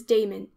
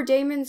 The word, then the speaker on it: Damon: tutor in music was Damon whose name they say should be pronounced with the first syllable short Aristotle however says that